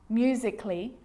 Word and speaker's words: musically: Now, the letter A can be silent, especially in words that end in A-L-L-Y, like these. Romantically, musically, logically. So I'm not pronouncing romantically, musically, and logically. Cut the A out.